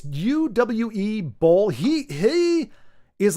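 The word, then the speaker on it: Uwe Boll: yep yep UA B I don't know how to pronounce his name uh OU or UA it's UWE bow he he is like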